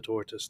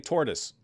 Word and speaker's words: Tzortzis: But you keep saying tortoise. Well, you're just misunderstanding me. Tzortzis. Tzortzis. Wait a minute. I was thinking maybe you can't pronounce that sound, but Germans have that sound.